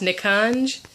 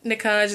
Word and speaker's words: Nikanj: I think his name is pronounced Nikanj.